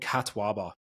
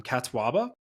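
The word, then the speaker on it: catuaba: for the past like five years it's called Kataba now it's spelled c a t uaba c a uaba um Kataba and I know people are going to say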